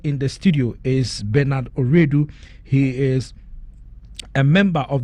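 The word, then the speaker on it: Owiredu: No, my Oredu is I think Justice Oredu was an Ashanti or something. My Oredu is Fanti. My dad is Fanti. Okay. So that is why it is spelled O-W-I-R-E. Yeah, there's Redu and there's Oredu.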